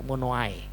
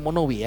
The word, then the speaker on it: Monowi: Ya, Monowai. Mono dan I itu. Monowi. Nah, atau kita bacanya Indonesia Monowi ya.